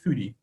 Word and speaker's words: Fodi: First up on the list, though, spelled Fodi, the local pronunciation would be Fudi.